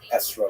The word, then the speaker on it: esrog: We all know that the correct fruit to bring is an etrog, or esrog in the Ashkenazi pronunciation, but it doesn't say so in the written Torah.